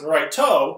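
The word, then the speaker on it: ライト: Yes, it's pronounced Raito, because, you got into a vowel, that's how Japanese is.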